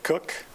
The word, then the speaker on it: Cook: My name is Cook. It's pronounced Cook, not Cotch or Crotch or whatever. It's Cook.